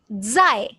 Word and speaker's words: 再: Z, z, that mosquito wala, z, that kind of sound. Zai.